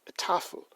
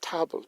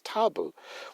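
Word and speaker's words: tafl: Viking game and they usually uh call that taffle TL but I want to point out to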